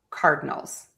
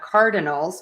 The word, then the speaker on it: Cardinals: the team, the Cardinals, I actually reduce an entire syllable and instead of saying Arizona Cardinals with three syllables in Cardinals, I will just say the Arizona Cardinals. and I actually kind of drop almost that middle syllable. It's kind of there, but many people can't hear it.